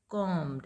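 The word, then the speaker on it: combed: Brushed my teeth and कॉम्ड। अब इसको कॉम नहीं बोलना है, जो ब का साउंड है ये साइलेंट रहेगा, this is कॉम, and third form फिर क्या हो जाएगी, कॉम्ड।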